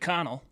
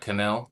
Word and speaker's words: Connell: Probably pronounces it Connell. Con Not Canel.